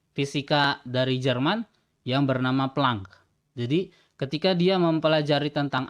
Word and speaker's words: Planck: disebutnya adalah konstanta Planck ini kadang-kadang disebut nya peleng Tapi saya lebih suka membacanya plang karena kalau prank itu